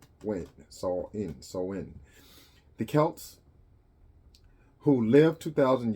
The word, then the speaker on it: Samhain: Ancient original Halloween dates back to the ancient Celtic festival of Samhain, pronounced Samhain.